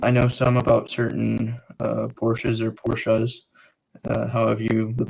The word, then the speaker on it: Porsche: um we right now porsche is actually technically the correct pronunciation but all the other